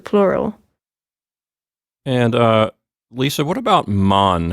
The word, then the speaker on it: Mann: And Lisa, what about Mann? How does the umlaut affect the pronunciation of the plural?